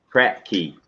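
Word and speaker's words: Kratky: I mean, spell that. Crack key. Crack key, KRATKEY, crack key hydroponics.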